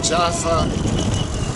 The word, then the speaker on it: Yafo: the city is tviv yafo yafo is the Hebrew pronunciation of the way that the name is written and it's popular in many languages particularly Hebrew and Arabic so it's could be also Jaffa Jaffa yaso and anyway